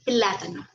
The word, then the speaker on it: plátano: Miremos el ejemplo de plátano. Separémoslo en sílabas. Plátano. Ahí está separado. ¿Dónde cargo la voz?